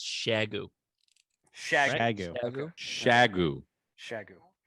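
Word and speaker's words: Xiegu: I think the technical Chinese pronunciation is Shagu.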